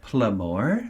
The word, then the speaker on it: Playmor: it, I was like, Playmore? Because it's spelled like Pla-MOR. But then I was like, oh wait, Playmore.